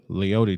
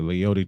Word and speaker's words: Leody: Leody Taveras is the correct pronunciation. I am all off tonight, and I apologize for that, folks. Next one, way outside and upstairs. It's 3-1 to Leody Taveras.